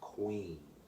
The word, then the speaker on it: Kwen: Well, the word queen represents something musically, and it's spelled Kwen, but it means queen, like we spell it in English, Queen.